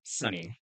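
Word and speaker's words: Sony: Um and you said the name is Sunny, right? Can you look at the camera spell that for them? That's going to be S O N Y. Sunny.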